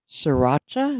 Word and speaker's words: sriracha: I got some sriracha sriracha is how you say it sriracha Oreos that's good